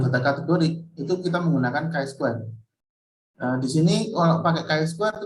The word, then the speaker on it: chi-square: Jadi untuk menentukan apakah ada asosiasi atau relationship terhadap dua variabel kategori, itu kita menggunakan chi-square. atau ini tulisannya C square, bacanya Chi square.